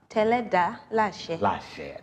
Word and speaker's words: Teledalase: building, and I asked her, how do I pronounce? She told me, but I don't know. It just went again. Teledalase.